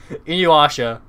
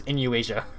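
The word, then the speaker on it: Inuyasha: didn't in eu asia never heard inuasha be pronounced as inu asia but give a take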